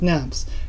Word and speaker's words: Knapp: just so you know my last name is pronounced naps keep up the good